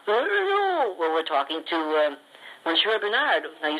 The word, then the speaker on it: Monsieur Brunard: Well, Monsieur, I'm sure I'm not pronouncing that right. How do you say that? Monsieur Brunard.